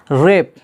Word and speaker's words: wrap: आर आया है तो डब्लू क्या हो गया, साइलेंट हो गया, रॉन्ग पढ़ा जा रहा है, जिसका माना होता है गलत। रेप, WRAP, रेप, जिसका माना होता है लपेटना, यहाँ